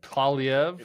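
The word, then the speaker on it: Poilievre: Yeah, I can't pronounce the last name, Kalev. Like it's just like Paulie like a Paulie wants a cracker and EV.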